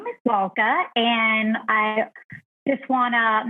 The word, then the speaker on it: Lalka: will start there um it's l-a-l-k-a so it's lol and then cup and this actually might